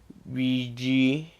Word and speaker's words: BG: It's actually BG, as in Gatorade, BG Carter.